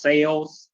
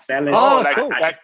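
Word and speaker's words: Sayles: And by the way, my last name is pronounced Sales, not Salas. Oh, yeah, Sales. Oh, wow. See. Sales, just like selling, just like sales something. My last name is Sales. It's just spelled S-A-Y-L-E-S.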